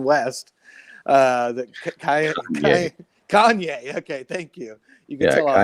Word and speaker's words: Kanye: And no, I'm not just talking about Elon Musk's bromance with Keon, how do you say his name? Kion West. Kanye.